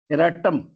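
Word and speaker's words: erratum: next शब्द है हमारा इराटम E double R ए E double R ए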